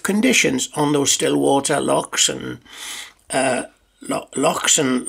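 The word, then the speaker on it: loch: on those still water locks and uh locks and lock locks as they're pronounced in scotland and an island and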